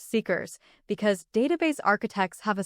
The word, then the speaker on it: CICRS: The result was what I called the Callaway integrated client record system, CICS, which the team pronounced seekers, because database architects have a specific kind of humor.